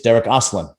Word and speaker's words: Derik Oslan: to be a household name and that is derek aslan did i pronounce that right yes you did thank you